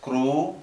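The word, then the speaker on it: គ្រូ: Below it, we have this is pronounced with this vowel as u, so this would be pronounced as gru, gru.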